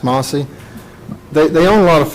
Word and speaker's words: Mlcie: mostly farms this experiment is spelled mlcie which is the great grandmother so it could be mosey but it's pronounced mossy they own a lot